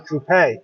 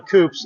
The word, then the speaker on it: Coupe: It's Town Coupe, correct? has the um lot in the So when we refer to these cars as town coups, it's really a town coupe.